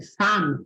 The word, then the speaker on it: femme: É uma palavra menos frequente, mas femme é uma pronúncia bem importante e que deve ser feita com A e não com E.